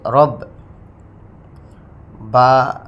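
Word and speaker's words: رَبِّ: তারপরে রব, তাসদিদওয়ালা হরফ কিন্তু 2 বার উচ্চারণ করতে হয়, বিষয়টা বারবার বলছি। একবার তাহার ডান দিকের হরকতের সঙ্গে, দ্বিতীয়বার নিজ হরকতের সঙ্গে। যেমন দেখুন, রর জবর বার তাসদিদ রব, একবার উচ্চারণ হয়ে গেছে রার হরকত জবরের সঙ্গে। রর জবর বার তাসদিদ রব, বা জের বি, রব্বি।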